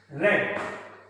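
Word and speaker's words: read: I have रेड। तीनों same spelling, तीनों same होती है, रीड लेकिन बोलते हैं रीड, रेड रेड है।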